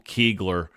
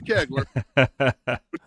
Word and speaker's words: Kegler: Yeah, it's pronounced Kegler. His mama will call me, so it is Kegler.